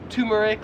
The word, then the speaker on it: turmeric: spice right here so I would pronounce this as turmeric however in Australia they would pronounce it as turmeric like you have a tumor turmeric turmeric you get it real quick guys